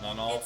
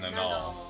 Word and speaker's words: Nal: Well, cuz in my head I say nal null, but it's not null. It's nol.